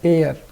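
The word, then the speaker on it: heir: अब कुछ लोग इसको हेयर पढ़ेंगे, क्या पढ़ेंगे? हेयर। और जो हेयर पढ़ेंगे वो यहाँ क्या लगा देंगे? ए, और आंसर क्या हो जाएगा? गलत। इसका करेक्ट प्रोनाउंसिएशन है एयर।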